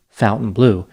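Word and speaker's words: Fontainebleau: while i know that it is in fact pronounced fountain blue by people who live there although i'm sure there are other ways who people outside of florida could pronounce it the fountain blue is an iconic upscale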